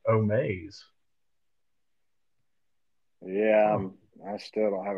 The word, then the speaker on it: Omaze: ] that definition up Omas is a company for fundraising actually I probably mispronounced it omaze yeah I still don't